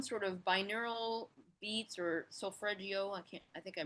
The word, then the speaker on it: solfeggio: I'll actually have like either subliminal stuff on, or I'll have some sort of binaural beats or solfeggio. I think I mispronounced that.